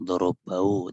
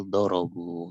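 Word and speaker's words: ضربوا: Mereka tidak mengucapkan darabau, tidak, tapi darabu itu.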